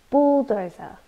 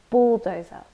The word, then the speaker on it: bulldozer: deserted or left alone bulldozer this is a noun we stress the first syllable bulldozer and it's a powerful tractor